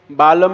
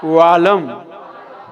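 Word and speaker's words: वालम्: यहाँ पर बालम नहीं है, यहाँ क्या है? वालम, वालम। हाँ, यहाँ वाह है, बा नहीं है। दोनों में अंतर है कि नहीं? बहुत अंतर है।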